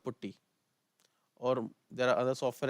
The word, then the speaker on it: Putty: You can just type Putty. Some people say Putty, Patti, Potty. Different people, different language, different tone. So I pronounce is Putty.